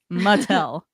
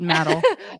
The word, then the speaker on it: Mattel: How to pronounce that brand? Mattel. Mattel. Yeah. Mattel. What did you say, Mando? You didn't say Mattel? Mattel? What did she say? Chat exposure. I didn't hear it. Mattel? I probably said metal.